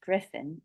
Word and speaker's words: Gripen: who flies the JAS Gripen, which is pronounced Griffin in English, but the JAS Gripen